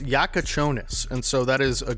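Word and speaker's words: Jakučionis: Okay, so it is pronounced Jakucionis, and so that is a good insight here from the commentary.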